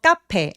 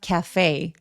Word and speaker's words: cafe: 근데 at the ca 여러분 이거 카페 아니고요. F 발음은 바람이 세어나와야 되기 때문에 바람이 확실하게 느껴지게 해 주세요. 특히 강세가 오니까요. 그래서 ka페 여러분 여기 카페라고 써 있지만 사실은 A라고까지 이중 모음으로 길게 소리 내 주시는게 포인트예요.